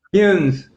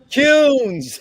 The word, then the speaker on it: Kuhns: Duncan Echelson, and Kuhns. I hope I got that right. It rhymes with prunes. tell me it again. Kuhns. Kuhns.